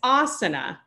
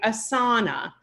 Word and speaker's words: asana: I hear people a lot of times saying asana rather than asana. Whereas if you can read the actual letters and the words, you'll understand why there's a long sound at the beginning and why there's a shorter sound in the middle.